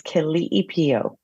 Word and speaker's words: Keliipio: The Hawaiian pronunciation is Keliipio.